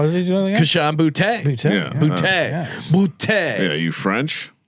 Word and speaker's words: Boutte: That's a very sophisticated way to pronounce booty as well. There, how did you do that? Keyshawn Boutte.